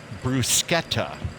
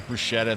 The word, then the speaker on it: bruschetta: It's actually bruschetta, Okay. like C-H-E-T in the middle. So everybody says bruschetta. This is bruschetta.